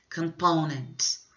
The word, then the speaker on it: components: A tônica, word stress, dessa palavra é a segunda sílaba. Components.